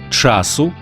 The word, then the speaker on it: часу: в давальному кому чому відмінку наголошується на перший склад тобто багато часу обмаль час часу мало